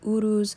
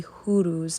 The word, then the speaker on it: Uruz: Now, the rune that we're working with today in regards to strength, as I said, is called the Uruz or the Huruz, depending on the pronunciation of the area.